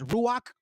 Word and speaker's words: Ruach: Did you know that the Holy Spirit we pronounce as Ruach?